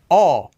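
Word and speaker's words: 어: This one goes to the side, aw, Aw. Aw. Okay. I recommend practicing this one extra because it's often confused with o, but they do sound very different.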